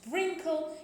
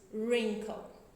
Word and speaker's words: wrinkle: Okay, it is not wrinkle, it is wrinkle.